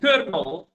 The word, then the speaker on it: colonel: So the word I said is kernel.